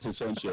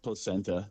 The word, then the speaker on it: Placentia: said it was correct he said placentia that's exactly how it's that is exactly how it's said in california but then the guys and everybody that's out there they call it placenta anybody that lives in